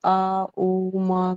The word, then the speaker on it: ओम: पता लगता है कि आ ओ मा करके जिस तरह से बोलते हैं। हाँ तो यही तरीका है असली ओम को उच्चारण करने का, अगर आप वाचक तरीके से कर रहे हैं तो।